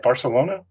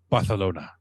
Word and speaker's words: Barcelona: No, you got to say it right. What, Barcelona? Barcelona. With the lisp.